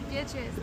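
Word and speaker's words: Béatrice: Me, it's Beatrice. What? Beatrice. It's French. That's why. Yeah. I was like, how should I pronounce this name?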